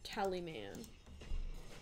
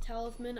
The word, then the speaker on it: Talisman: Wishclaw Tallyman. I know it's pronounced talisman, I'm just being silly.